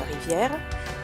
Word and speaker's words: rivière: Le E de rivière ne se prononce pas et ne se compte pas surtout.